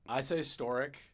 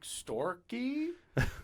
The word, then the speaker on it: Storyk: How do you pronounce it? I say Storyk.